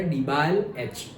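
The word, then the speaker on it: DIBAL-H: हमने सिर्फ SnCl2 और HCl को रिप्लेस किया है ये हमारा डाई आइसोब्यूटाइल एल्यूमिनियम हाइड्राइड, और सिंपली मैं ऐसे प्रोनाउंस करता था डिबाल H, डिबाल H।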